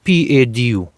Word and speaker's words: padu: in this country, it is called this fruit padu. I will spell it because it's a weird pronunciation, it's a weird spelling, so I will spell it in the way that I could spell it. P-A-D-U, padu, but it's a different spelling, but it's